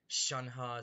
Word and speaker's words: Shenhe: different because like i the way i pronounce it is shanhua because that's that's how they pronounce it in like some voice lines but i swear they pronounce it differently it's like sometimes it's shangha sometimes it's shen hey it's just it just changes every time and it's really confusing i've